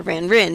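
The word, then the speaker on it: van Rijn: his first name rembrandt van reine or van rin depending on who you talk to i think it's van reine i'm pretty sure according to uh dutch that's how it should be pronounced he he just he's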